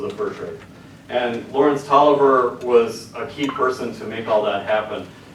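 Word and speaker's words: Lawrence Taliaferro: Lawrence Tolliver, not Taliaferro, but he's a Virginian and pronounced it Tolliver for some reason.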